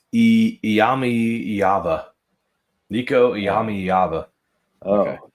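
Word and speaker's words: Iamaleava: Iyami Iyava.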